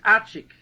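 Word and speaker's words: Arczik: And their grandfather and my grandfather, I find out the name is Archik. How do you spell that?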